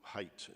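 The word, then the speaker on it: Haidt: the behavioral psychologist jonathan hayt who height is how he pronounces it h-a-i-d-t where he says you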